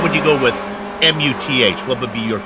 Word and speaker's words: Muth: How would you go with M-U-T-H? What would be your call on that pronunciation? M-U-T-H, in German, you don't pronounce the H, so that is just Daniel Muth.